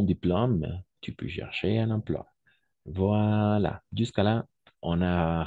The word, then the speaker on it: emploi: à la fin au milieu toujours on va prononcer wa donc emploi voilà si je devrais écrire de la même